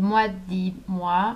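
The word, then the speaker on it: Moi dix Mois: Another one is called Moi Dis Moi. I'm pronouncing it the French way, the correct way.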